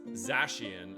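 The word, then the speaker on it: Zacian: It's pronounced Zashian. Ah, okay. Thank you for the correction.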